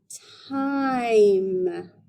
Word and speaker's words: time: But if I put a super silent E at the end, that E gives all its power to the I so that it can say its name. I'm, time.